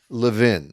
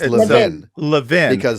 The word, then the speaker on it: Levin: It's pronounced Leaven. Mark Leaven. Is it Lean or Levin? It's Levvin. Adam Levan.